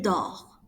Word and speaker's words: dort: Je dors, tu dors, il dort. Notice that we do not pronounce the S or the T. They are mute when you say it.